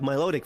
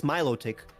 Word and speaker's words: Milotic: So like Miloic, for example, it's Milotic. That's technically not a mispronunciation. That's like a mis like stressing the wrong word. Yeah. That's the wrong syllable.